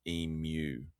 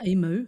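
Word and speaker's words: emu: I'm just going to say for our American listeners, if you are listening, um it's pronounced eemew, like eemew. Not eemoo? Eemew. Yeah, Americans say eemoo. But it's eemew.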